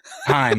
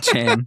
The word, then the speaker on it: Chaim: Heim, yeah. Chaim.